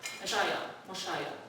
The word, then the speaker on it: Moshiach: In Hebrew or Aramaic, the word would be Messiah, Moshiach. That's how we pronounce it.